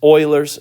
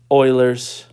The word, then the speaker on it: Euler: Okay, this is Euler's constant. And I say, Euler's constant. All right. You say, it's not Euler? No, it's pronounced Euler.